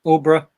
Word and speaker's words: Aldeburgh: Yeah, Aldborough. It's pronounced.